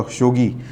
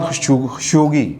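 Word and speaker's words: خاشقجي: تھا جی ان کا، خشوگی، جمال خشوگی، اس طرح کر کے تلفظ ہے ان کا، عربی میری اچھی نہیں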